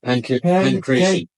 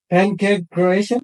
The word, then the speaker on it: Pankration: Pankration. Pancake Croatian?